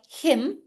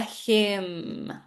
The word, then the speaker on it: hymn: So I took a photo of him at church. I sang a hymn. So even though this is YMN, the sound is the same. Him.